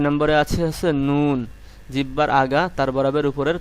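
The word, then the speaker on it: نون: সামনের উপরের দাঁতের মাড়ির সঙ্গে লাগিয়ে উচ্চারণ করবেন লাম, লাম, লাম। এরপরে 9 নম্বরে আছে নুন।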